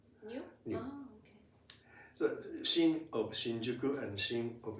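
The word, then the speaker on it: 新宿: Shinjuku is pronounced like this, one of the normal ways, Shinjuku.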